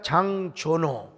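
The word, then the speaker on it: Jean Giono: 프랑스의 작가 장조노, 원래는 우리나라 말로는 장지오노인데요. 우리 프랑스 유학 갔다 온 분이 목사님 그렇게 발음하면 쪽팔립니다. 장조노라고 하세요.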